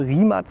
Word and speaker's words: Rimac: ganz wild rimat rimat das heißt doch rimak das schreibt man noch rimak ja man schreibt es rimak aber es wird rimatz ausgesprochen das kann ich euch versichern das habe ich selber auch in Erfahrung gebracht also rimat nevera ist